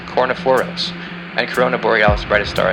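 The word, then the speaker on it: Kornephoros: claw of the Scorpion Hercules brightest star is pronounced cor foros and Corona boreal's brightest star is pronounced ala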